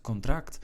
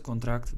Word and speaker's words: contract: And we continue with the next word, which is written exactly as in English. However, the pronunciation is a little bit different. We say het contract. Het contract, that would be the contract.